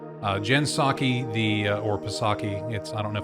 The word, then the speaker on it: Psaki: Jen Psaki, or Psaki, I don't know if the P is silent or not.